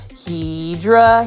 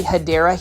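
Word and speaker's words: Hedera: a random shout of Hedra Helix, but it's basically me mispronouncing a um plant name. It's actually Hideera Helix.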